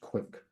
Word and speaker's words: QwQ: So this um is one of China's big uh tech companies and it has launched QWQ which probably should be pronounced quick QWQ and then also from